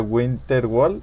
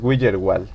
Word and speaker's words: Widgerwall: Era, yo decía Winterwall y es Widgerwall, ¿no?